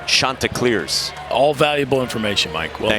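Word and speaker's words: Chanticleers: And their team name is pronounced Shantaa Clears.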